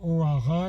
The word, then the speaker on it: Hoara: Alors O'Hara, comme j'ai dit dans la vidéo en anglais, ça s'écrit H-O-A-R-A. Ça n'a rien à voir avec l'Irlande, d'accord, ok.